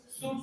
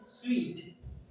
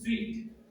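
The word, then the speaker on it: suite: Teachers look this S U I T E, इसको हम लोग सूट सूट बोलते हैं, बट the right pronunciation is स्वीट, स्वीट, V और V you are looking at, but the correct pronunciation is sweet।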